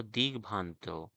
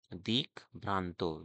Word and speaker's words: দিগ্ভ্রান্ত: এরপর হলো দিগ্ভ্রান্ত, দিক ভ্রান্ত, দিগ, দিগ, দিক নয় কিন্তু দিগ। দেখো গয়ের উচ্চারণ হবে দয়াশয় গ দিগ।